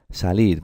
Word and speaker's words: salir: Salir, ¿cómo la pronunciáis, chicos? Salir, no. La pronunciáis salir, con la fuerza, con la intensidad en esta sílaba, ¿verdad?